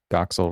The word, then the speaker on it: Doxel: Should be easy because Doxil rhymes with Troxil and that's the name of the show.